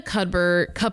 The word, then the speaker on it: cupboard: Cupboard. Oh, no. Cupboard. A cupboard. Cupboard. Wait, a cupboard. Cupboard. A cupboard. It's a silent P, yes?